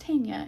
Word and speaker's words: Tanja: Pretty sure it's pronounced Tanja, and I said Tegna last time because I'm American.